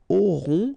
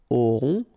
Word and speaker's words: auront: Then ils auront, final T not pronounced, O-N together, on, auront, okay, and then the link between the two, ils auront, elles auront.